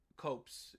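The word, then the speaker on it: copse: union lines to a cops of trees copes is probably how it's actually pronounced copes of trees that sat between the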